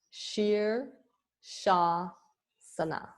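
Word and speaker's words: Shirshasana: diacritical marks and shersafana is headstand so it's pronounced sheer Shaw Sana sheer Shah Sana um Elena do you mind if I share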